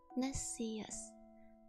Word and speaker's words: Nessius: Oh, I got it right the first time, pronounced Ness short E, E long E, us short U. Oh, Nessius.